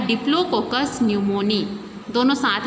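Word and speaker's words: pneumoniae: यहाँ पर पी क्या होता है? साइलेंट है, ठीक है। इसके स्टार्टिंग में क्या रहता है? पी रहता है, लेकिन पढ़ने के लिए इसको न्यूमोनी पढ़ा जाता है।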